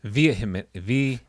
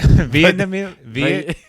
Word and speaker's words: vehemently: Vehemently. You're saying Vietnamese? Yeah, Vietnamly. Vietnamly. Vietnamly? Vietnamly. How do you say it? Vehemently. Vehemently.